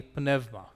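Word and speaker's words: πνεῦμα: sound it became stavros what happens if this a u is before a voiced sound say like panuma penuma venuma how would you pronounce this here so that would be penevma beneva and finally uh this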